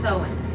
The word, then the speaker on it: Samhain: of the longest night of the year samhain pronounced sowing oh that's good to know been saying it wrong the whole time i feel like i've heard it champagne before all right they believe that there was